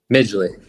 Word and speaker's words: Midgley: Migi pronounce it. It's Miggley, right? Migley.